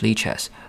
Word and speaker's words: lichess: a combination of live light libra it is pronounced leches live because games are played and watched in real time 24 7.